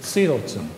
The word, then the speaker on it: psilocin: And psilocin is the actual active species, or as Albert Hoffman would have pronounced it, psilocin.